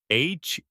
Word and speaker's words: heir: H-E-I-R. The H is silent. You say heir.